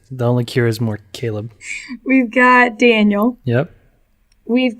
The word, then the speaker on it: Caleb: No, Caleb. So close. You said Calb as if like James. There's no such name like that. Yeah, there is. It's called Caleb. You're just pronouncing it weird.